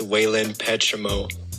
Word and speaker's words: Wayland Petramo: First off, for clarification, my name is pronounced Wayland Petramo, so Safa doesn't have to struggle anymore.